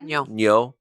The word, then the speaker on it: nyo: Got And is it is it is neo the right pronunciation of that? Neyo.